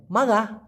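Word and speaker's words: marah: ব্যাপারটা এখানে কিন্তু আমি মারাহ বলি নাই মাগা কারণ র টাকে ওরা গ এর মত উচ্চারণ করে গাইয়া ভাষায় বাপ কাউমাগা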